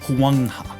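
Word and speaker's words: 黄河: At this time, the Sinid phenotype was primarily concentrated around the Yellow River, pronounced Huangha, a vital area in what is now modern China.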